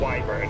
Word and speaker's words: wyvern: Anyway, as Uncle said, it is pronounced wyvern.